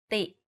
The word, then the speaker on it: ตี: For example, ติ and ตี The first word ติ with the shorter sound means to criticize. If you say it a bit longer, ตี it means to hit.